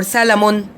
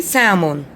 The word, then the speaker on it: salmon: don't say salmon or salamon all right we say salmon salmon salmon we have letter l is the silent in silent okay in the middle so we don't say